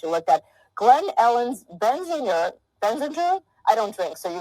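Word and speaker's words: Benziger: Glen Ellen's Benzinger? I don't drink, so you're going to have to pronounce this for me. Tell me about... right. Benzinger, that was correct.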